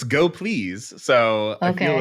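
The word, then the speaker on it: gopls: now I got to know how do you pronounce like the the language server I mean they told us it's go please so I feel like that's how is that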